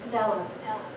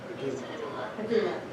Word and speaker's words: Padilla: Ms. Padella. How do you pronounce that? Padilla.